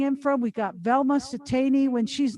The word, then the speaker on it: Siteine: Pronounce Siteine.